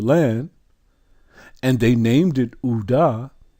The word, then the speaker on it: Judah: It's not Judah, it's Uda. If you go to the slave coast, even to this day, it's spelled Q-U-I-D-A-H, which is a transliteration from the French. It gives you the phonetic sound and the phonetic spelling. There is no J. It's pronounced Uda.